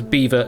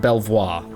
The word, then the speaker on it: Belvoir: Vickley Castle, Baconto Castle, Beaver Castle, and yes, as far as I'm aware is pronounced as Beaver, not Belvoir.